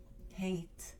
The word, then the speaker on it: hate: this e here okay automatically it makes the vowel sounds long it makes it sound a not a a so what would this word be pronounced as hate hate so we have